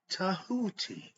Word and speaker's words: Tahuti: Okay, it's spelled a few different ways. They spell it Djehuty. Some use the I, some use the T, okay, TH, okay, Tahuti, TEH, so spelled different ways, but it's all meaning he represents God's mind.